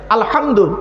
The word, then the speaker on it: আলহামদু: তাইতো আলহামদুলিল্লাহি রাব্বিল আলামিন আলহামদু গলার ভেতর থেকে হেটা উচ্চারণ করবেন আলহামদু এর মানে হচ্ছে সমস্ত